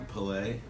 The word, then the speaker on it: Pelé: He more famous than Pelé?